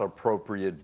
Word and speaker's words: appropriate: in summer is not appropriate beach wear. 在夏天呢，穿西装打领带并不是合适的沙滩服装。 Here I'd like to remind our students, we've talked about this before, appropriate, A-T-E at the end, is pronounced it, not eight.